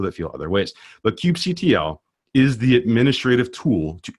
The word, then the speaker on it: kubectl: how to pronounce this, whether it's kubectl, kubecontrol, or kubectl. In the end, I don't care, right? I call it kubectl, and that's because of how I feel, but there's other people that feel other ways.